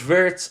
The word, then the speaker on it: Wirtz: It's Verts and it's the Premier League.